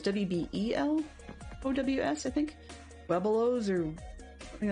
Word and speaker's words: Webelos: Webelos or something like that. The number of times that we've heard it pronounced as like "we blows," as though that second E isn't there.